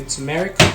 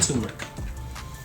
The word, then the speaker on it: turmeric: all right some turmeric how you say it you say tumeric and turmeric i say this is